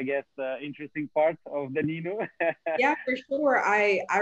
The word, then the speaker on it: Ninu: correctly new name yeah yeah perfect nino it's nino so um yeah it's the world's first smart